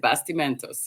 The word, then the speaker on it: Bastimentos: doing good hopefully I got the the first pronunciation of the island correct you did you did basti Mentos yes that's the Mentos actually means it actually